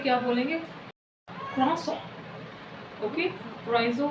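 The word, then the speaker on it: croissant: अब देखिए क्रोइज़ो को हम फ्रेंच में क्या बोलेंगे, क्रॉसॉन। ओके, क्रोइज़ो को हम फ्रेंच में क्या बोलेंगे, क्रॉसॉन। क्रॉसॉन इट्स अ करेक्ट प्रोनाउंसिएशन।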